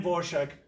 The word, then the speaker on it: Dvorak: She picked this pseudonym and then she told the journalist how it should be pronounced. And according to her, it should be pronounced Dvorak. Anne Dvorak was a great actress.